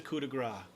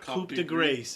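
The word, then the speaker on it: coup de grâce: people unless it's a coup de Gras and that's another point I just shoot their ears that's another important DMing rule it's pronounced coup de gras yes not copy - grace if anybody says anything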